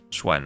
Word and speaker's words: Xuan: And is the XUAN more like a Schwen or Schwan? Like I've been pronouncing the A as kind of an E. I'm not sure about that. Schwen, okay. With an E, okay.